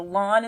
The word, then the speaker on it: ln: so what we've done instead is we've actually called the natural logarithm a lon ln so lon is how you say that so i could rewrite